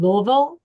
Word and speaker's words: Louisville: So thank you to everybody in Louisville. See, I'm saying it right. Louisville, not Louisville, not Louisville, Louisville.